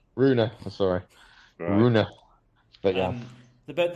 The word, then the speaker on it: Rune: on the pronunciation George it's rooner Rooney I'm sorry but yeah